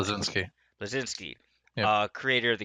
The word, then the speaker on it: Bleszinski: Blazinski.